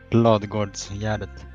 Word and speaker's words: Ladugårdsgärdet: It's actually pronounced Ladugårdsgärdet. La de Guards. It's okay. Well, that's pretty close. that was close enough.